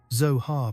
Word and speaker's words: Zohar: Zohar pronounced with a long, resonant O, vibrating in your solar plexus.